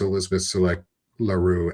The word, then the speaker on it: Elizabeth LaRue: It's uh as Elizabeth LaRue Esquire says for us, hopefully I said your name right and I'm sorry if I butchered it.